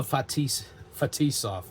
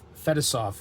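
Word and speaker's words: Fetisov: 302 Vash Vash Slava ftis fov or as uh I think Al Michaels Pro pronounced it fettis off in the uh Olympics so goov from fof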